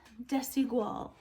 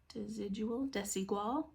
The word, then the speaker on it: Desigual: I did look up the pronunciation of this, and that's the way Google says to say it. Desigual. Desigual.